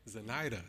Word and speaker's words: Zenaida: So, Zenaida, is that how you say her name? Zenaida. No. Oh, Zenaida. Zenaida, yes.